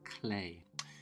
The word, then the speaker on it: Klee: and saying that because I used to say poor Clee but actually it's pronounced clay so Paul clay was a really interesting